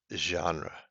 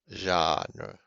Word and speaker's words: genre: its feet again um so this word is genre even though the second the first e the first let the second letter is an e it is ah genre and then we have